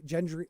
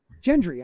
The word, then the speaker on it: Gendry: only three That Got Away gen uh J Gendry oh my God I can never say his name the the blacksmith kid that Arya likes gen Gendry Gendry am I okay I feel like I'm always